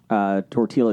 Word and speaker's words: tortilla: I also like dipping tortilla chips into cheese. You don't pronounce the L in tortilla.